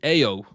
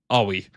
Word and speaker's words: Aoi: And I have reason to believe it's Aoi. Because in Tokyuger, in an episode I've just watched, there was somebody called Aoi, and they were pronouncing it Aoi. So I think I've been pronouncing it wrong, and I may have